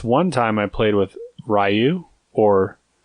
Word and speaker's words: Ryu: But this one time I played with Ryu, or Rue, as some people pronounce it.